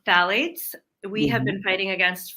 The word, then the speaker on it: phthalates: Now, is that, I was pronouncing it phthalates, it's phthalates?